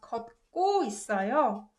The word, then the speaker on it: 걷고 있어요: And if you pronounce 걷고 있어요, 걷고 있어요, you notice that this ut gives more emphasis to 그 sound. So it's pronounced 걷고 있어요.